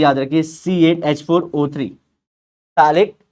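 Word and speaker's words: phthalic: और टैलिक anhydride, इसका general formula ही याद रखिए, C8H4O3, टैलिक anhydride, P silent है, क्या था फिर से, C8H4O3, तो 8 का आधा 4 करिए, उसमें से एक कम करिए, O3 हो जाएगा।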